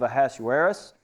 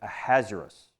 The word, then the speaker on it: Ahasuerus: "Now it took place in the days of Ahasuerus." I say that, I think, wrong. That's the way I used to pronounce it. I'm going to say it Ahasuerus. I think that's better. "The Ahasuerus, who reigned from India to Ethiopia over 120